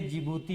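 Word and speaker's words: Djibouti: एस से Somalia हो जाएगा, ई से इथोपिया हो जाएगा, और ई से इरिट्रिया हो जाएगा, डी से जिबूती हो जाएगा, डी साइलेंट है उसमें।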